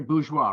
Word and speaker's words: Bourgeois: It's Bourgeois, right? Is that how I pronounce it? Yep.